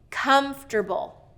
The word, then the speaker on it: comfortable: Okay, comfortable, first syllable stress.